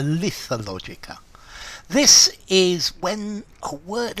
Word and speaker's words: Lethologica: Lethologica or Lethologica. I think you can pronounce it with both, but I think I would prefer Lethologica.